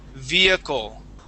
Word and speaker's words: vehicle: uh lenen um that the word is vehicle via vehicle all right that's how that's that's pronounced vehicle okay um eigor uh